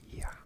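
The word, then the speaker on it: я: hello thank you so this letter looks like it should be an r but it's actually a vowel and it's pronounced yeah and it's how you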